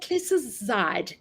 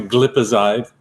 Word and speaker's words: glipizide: Clicizide. Clicazide. Probably glipizide.